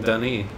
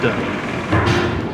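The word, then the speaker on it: D'ni: Dunny. Dunny is how it's supposed to be pronounced, but Dunny just sounds less weird.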